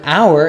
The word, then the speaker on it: hour: Furthermore, the word hour is a content word. This means it is emphasized. It begins with a vowel sound. The H is silent, so the function words connect to it.